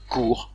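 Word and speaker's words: cort: Le mot qui s'écrit C-O-R-T, hein, qu'on aurait tendance à lire court, en fait se prononce court.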